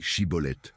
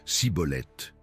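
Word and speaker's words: Schibboleth: Quand quelqu'un tentait de traverser, il demandait dit chibolet. Les Éphraémites ne parvenaient pas à prononcer le il disait cibolette.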